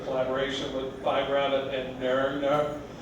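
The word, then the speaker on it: Nøgne Ø: with five rabbit and nerdner the Norwegian that's how they say it they're uh the Norwegian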